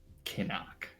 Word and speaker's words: Xinoc: It's pronounced Kinnock, but it's written Xinoc.